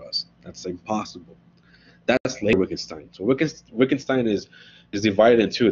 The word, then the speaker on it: Wittgenstein: Well, Wittgenstein, you pronounce it with a V, these German W's.